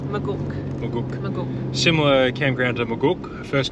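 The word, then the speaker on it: Maguk: Similar to the first campground we did at Majook. It's not pronounced Majook, is it? Magook.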